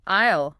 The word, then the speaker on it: aisle: And phonetically, it is pronounced exactly like the contraction I'll, as in I will. Aisle.